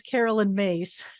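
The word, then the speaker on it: Caroline Myss: And just to tell you, it is Carolyn Myss. So you know, next time. Make that mistake. I didn't want to correct you. I'm human, people. So everybody makes that mispronunciation because her name is just such an odd spelling.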